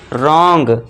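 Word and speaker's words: wrong: यदि आर से पहले डब्ल्यू है तो यहां पे फिर से देखिए आर से पहले डब्ल्यू है तो यहां पे इसे हम साइलेंट कर देंगे और इसे क्या पढ़ेंगे? रॉन्ग।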